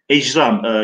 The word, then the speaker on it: ecram: Evet, ihram diye okunur kesinlikle, fakat burada nokta hani gökyüzünden bahsettiği için ecram, yani cirm kelimesinin, cürüm değil de cirm kelimesinin çoğulu ecram, cirimler.